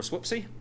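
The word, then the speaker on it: SWPC: called the space where the Prediction Center or whoopsy and they that's apparently how you pronounce it um anyway they do some modeling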